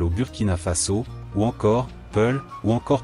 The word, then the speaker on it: Pullo: localité par exemple au Burkina Faso ou encore pull ou encore prononcé poulos pluriel Fulbé dans d'autres endroits les